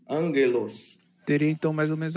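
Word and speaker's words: ἄγγελος: Então, a gente pronuncia angelos, angelos, angelos.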